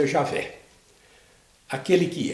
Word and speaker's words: Javé: aqui o rei favo rei que a gente pronuncia eu javé aquele que é porque é bom a gente